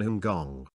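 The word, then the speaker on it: 香港: be an early phonetic rendering of the cantonese pronunciation hongong the name translates as fragrant harbour or incense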